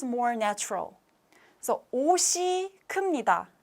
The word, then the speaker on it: 옷이: So 옷이 큽니다. Remember, this bracket is the signal of the pronunciation, not the writing form. So when you write, this is correct, but when you pronounce, this is correct.